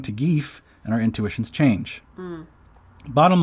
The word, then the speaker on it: gif: all in agreement that the letter i in gif doesn't make the vowel sound e as in beach right it doesn't make that long i sound the evidence is just